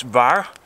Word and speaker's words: Vár: Old North and yeah it's very difficult to pronounce but it's VAR that's spring and we also in Denmark call